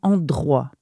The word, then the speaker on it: endroit: passage is titled 'Mon endroit préféré.' Do you know what an "endroit" is? Emphasize on the R sound: endroit. Endroit préféré. There's a lot of R. Now, "endroit" is a place.